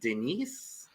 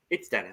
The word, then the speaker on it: Dennis: I'm glad it's just pronounced the way that Dennis is normally. I was like, is it Denise? Is it Denise? No, it's Dennis.